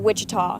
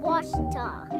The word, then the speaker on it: Ouachita: Back in Texas, everybody pronounces it Wichita, but really, it's Ouachita. Ouachita. Washita.